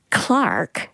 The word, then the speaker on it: clerk: And Simon, in this case, Clark is spelled C L E R K.